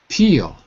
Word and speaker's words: peel: that would be clear peel that would be dark or silent whatever you want to call it peeled that is more